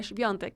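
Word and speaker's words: Świątek: Además, le consulté a unos amigos que viven en Polonia cómo pronunciar su nombre, y es así, Swiatek.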